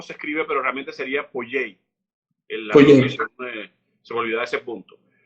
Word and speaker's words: Poyais: yo estoy pronunciando por Jason porque es como se escribe pero realmente sería poyey se me olvidó ese punto vemos también un